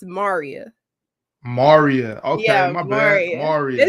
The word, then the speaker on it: Maria: name is actually is spelled Maria but it's pronounced Maria Maria okay my bad Maria you're cool you're